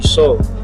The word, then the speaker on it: Soel: He's like spelled like Joel, but instead of Joel, it's soul.